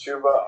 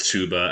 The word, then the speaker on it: Chuba: i just like to say it's it is chuba okay yeah it is chuba i just like saying chaba to say chapahaba